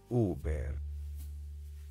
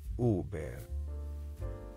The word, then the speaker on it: Huber: or focal point let's say it all together oo bear oo bear o be one more time oo bear o be o be thank you for joining